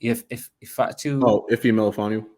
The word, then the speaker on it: Ife Melifonwu: Ife Melifonwu.